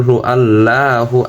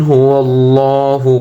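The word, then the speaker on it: هُوَ اللَّهُ: আমরা অনেকেই বলে থাকি কুল হু আল্লাহু, আল্লাহু হবে না, আল্লাহু। কুল হুয়াল্লাহু, কুল হুয়াল্লাহু আল্লাহু।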